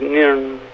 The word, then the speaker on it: Nairn: How to pronounce Nairn. Aye, you see, it's one of the fastest towns in Scotland. It goes Nairn.